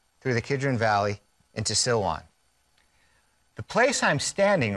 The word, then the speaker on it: Silwan: As I pan to the right here, we're looking at the Arab village of Silwan. It sounds like the word Siloam, as in the pool of Siloam. It's the same word.